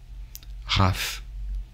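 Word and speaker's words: רפא: La lettre P peut se prononcer feu, Raph.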